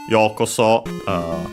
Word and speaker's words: yokoso: we have this expression yokoso. By the way, I didn't mention its accent on the first syllable.